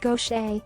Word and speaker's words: Gauthier: a second career for gothier pronounced gaucher woes 60 she was